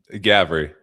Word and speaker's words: Gavre: So we're going to trace the pivots of Chris Guav. Am I pronouncing this right? Chris Gavry.